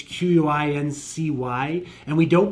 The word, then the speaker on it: Quincy: So Quincy, there's a hard Z in Quincy. No, there isn't. When you spell it out, it's Quincy, and we don't pronounce it Quincy.